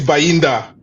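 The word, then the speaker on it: Bayındır: How do you pronounce his name? Sorry, it's Bayinda. Bayinda.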